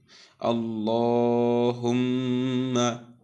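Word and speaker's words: اللّٰهُمَّ: মিমে তাসদিদ, আমরা জানি নুনে কিংবা মিমে তাসদিদ হলে এই নুন মিমের তাসদিদ উচ্চারণের সময় যে থামার জায়গাটা আছে, যে আমরা প্রথমে সাকিন তারপরে হরকত দিয়ে উচ্চারণ করি, এই সাকিন করার সময় গুণনা করতে হবে। এই জন্য আমরা বলছি হুম্মা।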